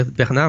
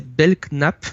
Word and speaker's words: Belknap: Non, j'ai toujours dit Bernard, mais c'est Belknap. Ça s'écrit B-E-L-K-N-A-P, c'est imprononçable. On va l'appeler Frank Long.